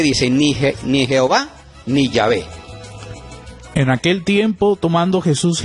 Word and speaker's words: Yahvé: pueden consultar también y los expertos dicen que la pronunciación más correcta es llave llave entre otras cosas porque